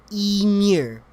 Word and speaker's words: Ymir: Ymir, pronounced roughly Ymir, the Screamer.